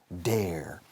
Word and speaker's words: dare: Se pronuncia como care, bear, wear, dare.